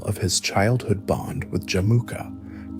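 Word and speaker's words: Jamukha: Equally critical was the immediate renewal of his childhood bond with Jamuka, pronounced Jamuka.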